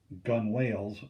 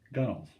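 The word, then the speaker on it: gunwales: paddles on the gunnels this word looks like it's gun whales but it's pronounced pronounced gunnels that's only 25 miles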